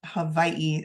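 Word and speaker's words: Hawaiʻi: moving on to Hawaii well spelled to be Havi is technically how you're supposed to pronounce it um it's also referred to as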